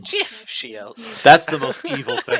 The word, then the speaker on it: GIF: up as a gift it's pronounced jiff that's the most evil